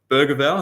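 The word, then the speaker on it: Bergvall: I would say Bergevall, I think that's how you say it in the Swedish pronunciation.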